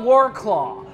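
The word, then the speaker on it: Wrocław: Ro flu flu okay I call it warclaw uh that's the that's the American way to say this [ __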